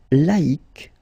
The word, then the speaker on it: laïque: Yes, you need to take away the C and then put QUE, but then phonetically, if you pronounce it, you pronounce it exactly the same way.